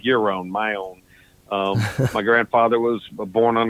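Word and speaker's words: Maione: her musical talent well the name it's pronounced my own pretty simple um my my grandpa and my hip my grandfather like year-round my own my grandfather was born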